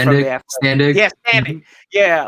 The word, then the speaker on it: Standig: Brother Ben Standig, from The Athletic. Standig. Yeah, Standig. Mm-hmm. Yeah, like it's not. Dude, it doesn't. Yeah, it doesn't sound how it's spelled, but yeah.